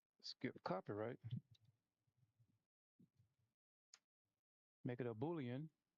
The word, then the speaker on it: boolean: Make it a boolean. I used to call it a bootling, but it's a boolean.